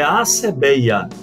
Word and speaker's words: assébeia: pensou dizer tá certo sempre tem som de ss Ok gente então é assebeia essa é a razão